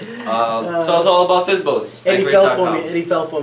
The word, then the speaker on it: FSBO: by owners yep uh fsbo they spell it f i z z Bo o o well this actually this